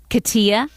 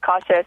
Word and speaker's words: Katia: Okay, Katia from Savoy.